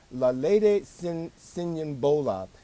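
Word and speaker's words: Lolade Siyonbola: I think her name is pronounced Lalede Sinyambola, an African American student at Yale University sleeping in a public area of her dorm.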